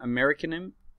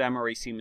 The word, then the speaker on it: americium: I used to pronounce it americanum. I can't think of how I used to pronounce it. I'm hoping that americium is the correct spelling.